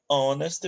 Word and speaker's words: honest: vai renunciar Em Rodas senão a gente vai pronúncia e é honest Man Ok um homem honesto tá bom and